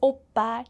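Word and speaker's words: 오빠: And from the letters, you can already guess the first syllable, O, makes an O sound, like O, especially because of the vowel O. And if you look at the second syllable, this is a double consonant, so it's a strong PP sound, B, B. And the next vowel makes an A sound, okay?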